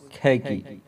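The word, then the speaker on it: khaki: سے خاکی، رنگ سے، انگریزی میں خاکی کا تلفظ کھیکی۔ اور نمبر 5، غیر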